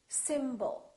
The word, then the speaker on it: symbol: we have two syllables the first syllable is stressed and the second syllable is reduced when we have a